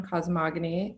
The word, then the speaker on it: Cosmogony: have uh lucy ives whose new story collection cosmogony have i pronounced that correctly lucy i know there was